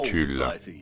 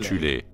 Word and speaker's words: Thule: Avant la montée du régime national-socialiste, il existait en Allemagne une société secrète occulte appelée la Société de Tulle, parfois prononcée alternativement Thule, composée de sous-factions en son sein.